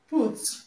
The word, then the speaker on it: put: Now, in this word, put. The U here is not pronounced ah, it's pronounced U, okay, short U. So it does not have this sound because ordinarily you don't pronounce this U as O. You pronounce it as U, okay?